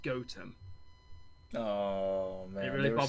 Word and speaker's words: Gotham: to me called gotham but it's spelt it's pronounced gotem oh man it really is so close has